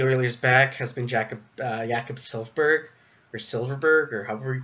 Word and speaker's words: Silfverberg: thorn in the Oilers' back has been Jakob Silfverberg, or however you pronounce his name. Silfverberg, you're right.